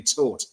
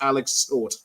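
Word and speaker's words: Tóth: And I've also learned that the pronunciation of his surname is actually Tort, as in Bournemouth taught Liverpool a footballing lesson. So it's Alex Tort.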